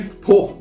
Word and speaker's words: Pau: No circuito de Pau da França, se pronuncia Pau, eu fui no Google procurar, tá?